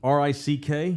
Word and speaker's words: Rick: R-I-C-K? Yep. Rick as in rhymes with Dick.